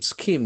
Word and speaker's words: scheme: Scheme is another beautiful noun s c h e m e. We can see the letter H doesn't have any sound here.